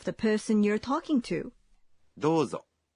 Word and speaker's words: どうぞ: どうぞ Dozo is please. When you say どうぞ you say O in the vowel in do one beat longer.